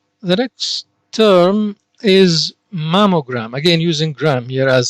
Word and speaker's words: mammogram: of a blood vessel now let's see the pronunciation angiogram angiogram the next term is mammogram again using gram here as suffix mammogram mam means breast it is a root here